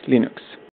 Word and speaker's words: Linux: Hello, this is Linus Torvalds, and I pronounce Linux as Linux.